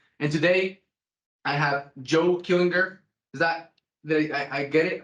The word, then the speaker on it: Killinger: And today, I have Joe Killinger. Is that I get it? I got it right? Joe Killinger, close enough. I've been Killinger.